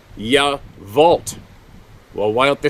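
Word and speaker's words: Yacolt: It's spelt Y-A-C-O-L-T, but it's pronounced Yavolt.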